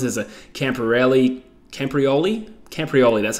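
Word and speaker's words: Camporeale: and father Sons as a camper rally camprioli camprioli that's how you say it is a Welsh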